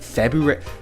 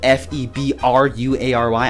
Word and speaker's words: February: February? You know, it's spelled F-E-B-R-U-A-R-Y. I didn't know there was an R after that B. I always said February. But it's February?